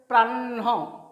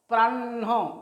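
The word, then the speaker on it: প্রাহ্ণ: ঠিক আছে, উচ্চারণ হবে প্রাহ্ন, প্রাহ্ন মানে আগে মূর্ধন্যর উচ্চারণটা আসছে, তারপর হয়ের উচ্চারণটা আসছে, প্রাহ্ন।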